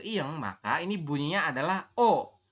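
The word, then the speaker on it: 어: Ke arah kiri menghadap ke lingkaran, menghadap ke iyeng, maka ini bunyinya adalah O. Tulisannya EO, tapi dibacanya adalah O ya Robun.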